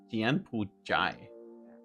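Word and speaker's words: 柬埔寨: Jianpujai.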